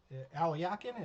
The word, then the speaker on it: Alekhine: And for that matter, Alyakin was reading Greco's. Alyakin is how you pronounce Alekhine, by the way.